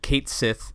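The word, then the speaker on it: Cait Sith: development um nura had envisioned both Barrett and Kate Sith and that is actually how there it's pronounced there's a lot of chatter online that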